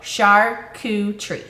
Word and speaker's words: charcuterie: so first of all how you pronounce it is Char it's s-h-a-r that's not the way you spell it pronounce it s-h-a-r Shar coup k-o-o tree t-r-e-e so charcuterie charcuterie people that don't know